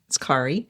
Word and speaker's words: Kari: It's Norwegian. It's a common Norwegian name. It's not short for anything. It's Kari.